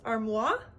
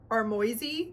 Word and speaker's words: Armoise: One is Armoise or Armoisy, if I'm gonna say it like in English, say it in an English or American accent, and then Sage or Sage.